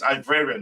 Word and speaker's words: Ivorian: It's Ivorian.